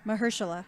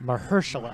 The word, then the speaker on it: Mahershala: Mahershala. Mahershala.